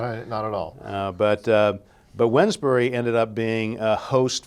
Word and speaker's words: Wednesbury: in a place called Wednesbury, and it's often mispronounced as Wednesbury. We don't say Wednesday.